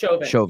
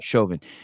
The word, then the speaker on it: Chauvin: How do you pronounce Derek's? Chauvin. Yep. Chauvin.